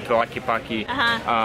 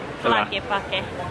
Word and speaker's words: Tlaquepaque: If nothing else, just to learn how to say Tlaquepaque. And the TL is because strange. In Spanish it's tla, and in English it's tla.